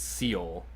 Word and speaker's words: Seoul: And forgive me if I pronounce this wrong. It's Seoul, Korea.